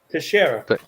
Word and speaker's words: Teixeira: Teixeira.